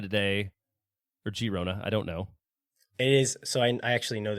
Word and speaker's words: Girona: this one it is Girona because it's in catalunia and in the catalon language G's are pronounced with like the soft G well I've learned something